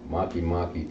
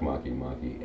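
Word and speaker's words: Makemake: And Maki Maki kind of rhymes with Anunnaki.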